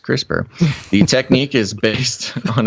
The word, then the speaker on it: CRISPR: editing on human embryos with the crispr technique pronounced crispr the technique is based on a molecular system